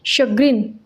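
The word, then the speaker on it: chagrin: Next word है हमारे पास में शग्रीन। शग्रीन, इसका प्रोनाउंसिएशन है शग्रीन।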